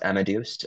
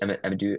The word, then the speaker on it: Amadeus: Um, Look, I think we can conquer the hospitality space and be as big as, how do you pronounce Amadeus? Amadeus?